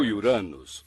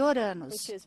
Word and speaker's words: Uranus: Eu digo Uranus. Acho que as pessoas têm vergonha de dizer de outra forma. Uranus, isso. Eu chamo o planeta de Uranus, que provavelmente é bem mais próximo da pronúncia original do nome do deus que lhe deu este nome.